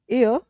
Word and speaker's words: heir: So if we see the word air this pronounced with the word e and a which is your vowel in articles.